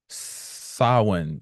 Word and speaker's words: Samhain: where we at right now this is called sa it's spelled like Sam ha but it's pronounced sa